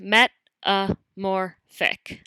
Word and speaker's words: metamorphic: type of rock is metamorphic pronounced met a more thick metamorphic means changed form